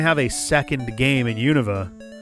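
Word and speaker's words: Unova: However, we are going to have a second game in Univa. I'm trying to train myself to say Univa instead of Yova.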